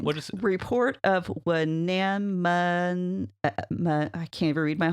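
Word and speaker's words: Wenamun: Report of Wenanmun. I can't even read my whole slide. Like trying to say anemone. I know, it is. Weenamun. There we go. We got to get the syllables in the right order.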